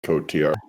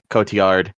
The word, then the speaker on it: Marion Cotillard: So, I've been I've been saying her name wrong for like years. Marion Cotillard? Yeah, I thought it was Marion Cotillard, but we learned every movie with Marion Collier. Cotillard. Cotillard.